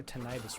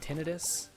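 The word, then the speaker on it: tinnitus: also I'm having major tenius right now my ear is ringing did you know that some people pronounce it tenus instead of tenius I don't like tenus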